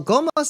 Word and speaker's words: Gomo: That's spelled Gomo. It's just Gomo.